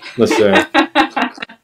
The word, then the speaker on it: Lachey: So Lachey. I called him Lacey all day just because I didn't want to correct myself.